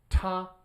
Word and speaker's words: 他: Ta, right? So just hit that T hard, and then you get he or him.